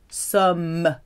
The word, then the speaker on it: sommes: Nous sommes. With a clear M sound at the end.